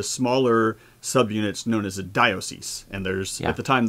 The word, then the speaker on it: diocese: I'm not sure I'm saying the plural right, dioceses? I think it's a schwa on the O. It's like diocese, I think. So it's like an unaccented syllable. You don't say di-o, you say diocese.